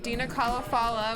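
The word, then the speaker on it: Dena Khalafallah: At Dina Kalafala, which is spelled DenaKhaLafallah, and that's on Instagram and Twitter.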